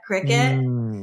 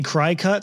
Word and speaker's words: Cricut: entire aisle devoted to this product cricket and here's people pronouncing it completely differently sure imagine the workers like do you guys have any cry cut stuff and the workers